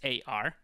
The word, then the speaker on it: SBSAR: I think I've been pronouncing it incorrectly. It's not sbasr, it's absar.